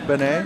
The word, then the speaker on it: beignet: just kidding the names beignet we've been we've been corrected that it's beignet so it's like my name and then yay yeah it's perfect that's